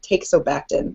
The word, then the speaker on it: teixobactin: So I think takes is the correct way to pronounce it, but if anyone disputes that, feel free to correct me.